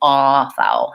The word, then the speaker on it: author: out for there is having lip rounding ah rather than ah not an open ah but a rounded aw there's first syllable stress so that's gonna be long ah thering authoring another thing